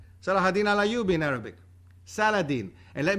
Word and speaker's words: Salah: cannot be Greek right so Salah that's the Arabic pronunciation of his name Saladin in English during the Crusades when